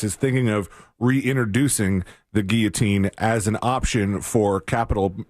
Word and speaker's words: guillotine: is a word where some people say Guillotine but if you say Guillotine the audience is going to think that you're a dummy and that you don't know how to say the word and you don't know anything about this and you'll actually get more emails calling you dumb if you say it the correct way anyhow I digress this